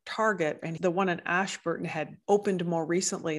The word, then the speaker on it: Ashburton: And I think part of that was that this third mosque that he was going to was up in Ashburton. Am I pronouncing that right? Ashburton.